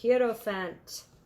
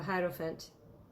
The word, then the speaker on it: hierophant: the Taurus Sun um the herofant a hierophant no hero fat I mean at least how I pronounce it in German um in reverse uh